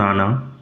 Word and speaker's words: Anne: Class seven lesson 12 my diary and Frank. উচ্চারণ আগেই বলেছি। এনি হবে না। ফরাসি ভাষায় উচ্চারণ আনা।